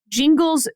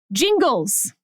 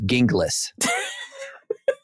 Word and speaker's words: Gingles: Jingles uh uh parenthetical pronounced Jingles with a j born and raised in